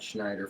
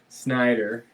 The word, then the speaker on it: Snyder: But we have to teach Phil that it's Todd Snyder and not Todd Schneider first. So that when we meet him, What is it? How do you say? How do you say it? Snyder. Like Gary Snyder, not Schneider, like Snyder.